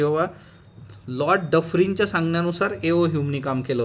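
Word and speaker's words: Dufferin: त्यानंतर पुढची जी व्यक्ती आपली ती म्हणजे लॉर्ड डफरिंग. ओके, नॉट सफरिंग, हा डफरिन आहे.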